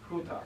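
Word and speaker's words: οὗτος: They go oh, oh, and you've got to say ooh, but you put the H sound at the beginning of both of them.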